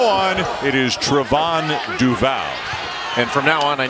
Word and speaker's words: Duval: mean his name is actually supposed to be pronounced Trayvon not Trayvon or Trayvon Trayvon and it's due vow not Duvall so he as chain not has changed has